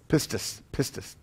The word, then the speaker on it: pistis: The Greek term pistis am I pronouncing that right, Bill? Pistis.